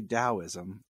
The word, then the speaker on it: Daoism: my wife is instructing me it is actually Daoism and I apologize for mispronouncing it thank you Jania I'll probably get